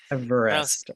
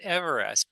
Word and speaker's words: Everest: Everest. Everest. Everest. Not Everest. Per the pronunciation of the British surveyors.